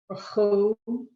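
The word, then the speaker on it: ברכו: So it's either silent, but in this case, the chaf has its own vowel. So I would do rechu. Baruchu, Baruchu, Baruchu, Baruchu.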